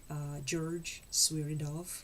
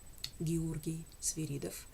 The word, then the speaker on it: Georgy Sviridov: You will hear the musical masterpiece of a famous Russian composer, George Sviridov, or I will pronounce his name in Russian, Georgy Sviridov.